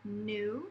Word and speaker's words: knew: we can choose from new cuz their K is silent new like I knew that